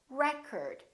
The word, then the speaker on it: record: another word this word if it's a noun it's pronounced as record the first syllable is stressed recurred this o changes